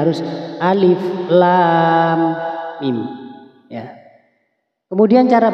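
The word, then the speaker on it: الم: ya bertemu tasydid ini kemudian mimnya sebelum masuk ke mim harus didengungkan terlebih dahulu seperti ini alif lam alif lam panjang lamnya lam kemudian ke huruf Mim harus mendenggung lam nah ini mendengungnya dua harakat Alif Lam Mim mimnya enam harakat Saya ulang lagi perhatikan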